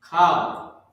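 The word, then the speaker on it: כל: Kal. K-A-L. That's how you pronounce this word.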